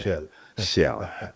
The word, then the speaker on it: Chelle: Eric Chelle, sorry. Chelle. Leslie is the French-speaking man, so he's been correcting me on how to pronounce our new coach's name.